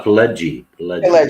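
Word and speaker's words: Pileggi: name p p jelly how do you pronounce his name uh pledgie yeah yeah uh mitch palegia is so damn great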